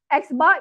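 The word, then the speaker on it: x̄: So this is pronounced as xar. xbar is the denotion for mean sample mean.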